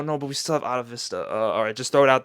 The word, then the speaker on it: Atavista: Actually, it's Atavista. I've been saying Atavista in this video because I don't know why, it just looks like that's the right way to say it, but nah, in the title track he says Atavista, so I was wrong.